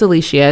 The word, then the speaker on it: Alishia: It's Alicia. It's pronounced that way.